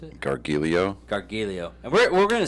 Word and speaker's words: Gargiulo: How do you pronounce it? Gargiulo.